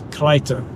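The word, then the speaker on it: Kreuter: Which is pronounced in German. It's Kreiter. Kreiter or something.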